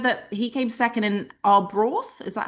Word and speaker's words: Arbroath: He said that he came second in Arbroath. Is that how you say it? Yeah, Arbroath?